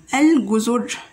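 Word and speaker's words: الجزر: You can see, Lam is pronounced Al, and you say the noun without any interruption, Al-Guzur, Al-Guzur. And okay, and we didn't say Ag, we said Al-Ga, Al-Ga, like that.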